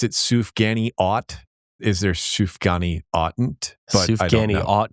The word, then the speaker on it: sufganiyot: We already covered one, which is like literally my first food note was you pronounced it Sufganiyot.